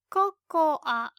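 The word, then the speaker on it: ココア: It's cocoa. Cocoa. Coco. Unlike English, we pronounce the last a, cocoa.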